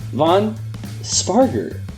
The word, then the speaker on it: Vaughn Spargur: the research team and just allaround good guy Von sparer I believe that that's how it's pronounced right yes you got it right all